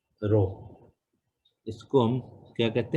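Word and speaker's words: ρ: तो ये जो है क्या होता है, आर एच ओ, रो, इसको कैसे प्रोनाउंस करते हैं, रो, आर एच ओ, ओके।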